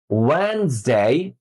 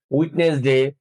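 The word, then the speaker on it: Wednesday: বলতে আমি বলা শেষ হলে তারপরে শুনে হুবহু উচ্চারণটা করতে হবে। Monday, Monday, টিউজডে, টিউজডে, ওয়েনসডে, ওয়েনসডে, Thursday, Thursday, Friday, Friday, Saturday, Saturday. সাধারণত আমরা এগুলোর উচ্চারণ করি Sunday, Monday, টিউসডে, উইকনেসডে, Thursday, Friday, Saturday.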